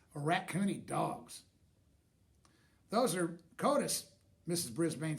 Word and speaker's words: coatis: "Those are coatis," Mrs. Brisbane said, reading from the letter, pronounced coatis. The coatis looked weird.